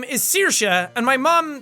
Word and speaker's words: Saoirse: that I know wants to know how to pronounce it it's Saoirse that's Cersei or swear say or anything like that Saoirse it's pretty it's pretty easy to say it